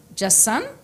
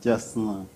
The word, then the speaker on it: Jasna: Le premier, c'est Alfred Camus Jassan. C'est Jasna. Jasna. Oui, oui.